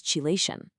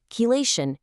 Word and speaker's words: chelation: So what in the world is chilation?